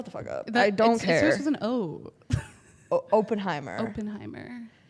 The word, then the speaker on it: Oppenheimer: know if you watch open Timer because I'm not doing that also that's not how you say it but I kind of want open armor it's Oppenheimer I'm not doing that